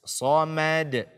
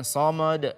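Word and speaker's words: الصمد: ya harus kita perhatikan ketika huruf tipis berada setelah atau sebelum Huruf tebal jangan sampai dia terpengaruh oleh huruf tebal tersebut sehingga dia ikutan tebal akan tetapi yang tebal dibaca dengan tebal yang tipis tetaplah tipis Soulmate Soulmate bukan so mode so mode Hai selain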